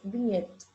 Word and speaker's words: vignette: Viñeta viene del francés vignette. Ah, creo que así es la pronuncia, ¿no?